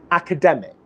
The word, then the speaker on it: academic: academic academic academic okay either there's a very very very subtle release academic or there's no release at all academic okay but what we don't want to have happen is academic because if i do that then i'm doing what i explained is a mistake earlier on in the training which is adding an extra syllable to this word academic which we don't want to do okay so in connected